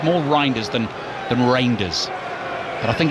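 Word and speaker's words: Reijnders: It's a tricky one cuz he sort of says Rinders, doesn't he properly uh in Dutch, so I'm I can't do it quite as authentically as that.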